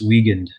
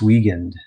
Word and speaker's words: Wiegand: My I is silent, so it's Wiegand. Wiegand. Wiegand.